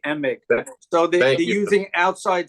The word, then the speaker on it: Emig: and Michael Dan Emig I think it's pronounced e h m g Emig so they they're using